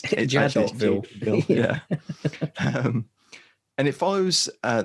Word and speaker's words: Jadotville: It follows the 5-day siege at, if you're pronouncing it the French or Belgian way, I suppose it's Jadotville.